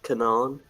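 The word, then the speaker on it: Kanan: n chew the find it's pronounced Kanaan it has 6 reviews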